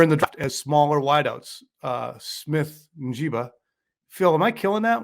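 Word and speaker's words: Smith-Njigba: it uh you can you can Google how do you pronounce X name and then the guy comes on he says Jackson Smith jigba so it's Jackson's Jackson Smith and jigba Ohio State did not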